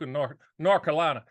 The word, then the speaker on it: North Carolina: And it's like North Carolina. If you live in North Carolina, you never pronounce the TH, North Carolina.